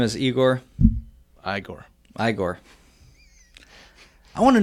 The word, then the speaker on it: Igor: you must be Igor now it's pronounced I go oh that's brilliant man